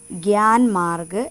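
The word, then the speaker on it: ज्ञान मार्ग: ഈ ഞ എന്ന ലെറ്റർ ഹിന്ദിയിൽ ഉച്ചരിക്കേണ്ടത് ഗ്യാ എന്നാണ്. ഗ്യാ. സോ ഈ ഒരു വേർഡ് നമ്മൾ വായിക്കേണ്ടത് ഗ്യാൻ മാർഗ് എന്നാണ്.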